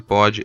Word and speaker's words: Pod: Lembre-se de que o D de pod é mudo.